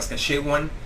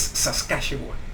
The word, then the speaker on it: Saskatchewan: La pronunciación correcta algunos dicen Saskatchewan, no es correcto, es Saskatchewan.